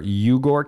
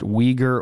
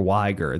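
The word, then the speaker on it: Uyghur: is hard to pronounce many people say they're yugar camps it's actually pronounced weager or Wier there are Chinese Muslim weager camps wiger camps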